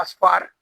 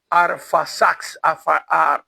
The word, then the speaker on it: Arfaxad: Fíjese que Sem tuvo un hijo que se llamaba Asfar. Lo estoy pronunciando bien. Arfaxad.